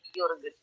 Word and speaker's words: Jürgen: Nah ini Jürgen ya, biasanya kalau J di Jerman itu pakai dibacanya Y, Jürgen.